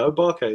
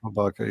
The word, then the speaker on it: O.R.k.: And I'm gonna screw up pronouncing the band you mentioned before, O.R.k. Is that? Yeah, O.R.k. Yeah. O.R.k.